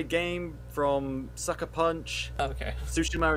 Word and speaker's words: Tsushima: __ ] ghost of toshima i haven't heard of that one that's the new japanese samurai game from sucker punch okay tsushima is actually called i mispronounced it earlier it because there's a